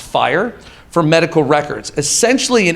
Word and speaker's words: FHIR: announced that they're working on developing fhir which pronounced fire for medical records essentially an interoperability platform that